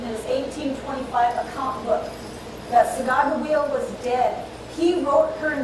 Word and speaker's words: Sacagawea: The J in Sacagawea's name was an error. But it's an error that has caused people to mispronounce her name for the last over 200 years. Sacagawea is a Hidatsa word for bird.